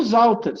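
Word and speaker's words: Sauter: E o Zauter se escreve com S, mas se fala como Z, tá?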